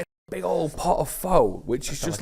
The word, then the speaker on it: pho: And I'm going to pronounce it the English way because if I pronounce it the natural way, I sound like a git. Pho. Oof, pho. Or as they say locally, pho.